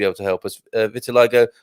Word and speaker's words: vitiligo: to help us uh vitiligo or vitiligo with the stress on oh it is vitiligo yeah he's got a phonetic medical pronunciation in there thank you for that